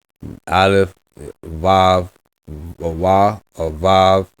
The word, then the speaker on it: Vav: Aleph, Vav, or Wa, or Vav. Biblical is Wav. Modern is Vav.